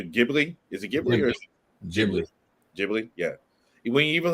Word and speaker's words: Ghibli: I keep pronouncing their name wrong. Studio Ghibli. Is it Ghibli or Ghibli?